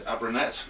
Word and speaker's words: Abranet: a quick round up this is abernette not our bananas i keep pronouncing it it's a product i've